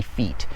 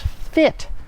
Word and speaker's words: fit: i'm going to be feet so that sounds super weird and that's not correct that's not how you pronounce that word it's fit now obviously that's a